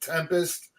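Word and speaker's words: 7empest: with tulle Tempest now the way they spell this is a seven empist but they pronounce it Tempest but it has the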